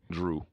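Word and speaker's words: Jrue: is spill jru II guess how he pronounces it hmm just tell me drew what drew holiday mm-hmm like JRuby it's pronounced like a D I guess I can't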